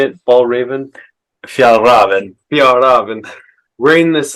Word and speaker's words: Fjällräven: Fjällräven.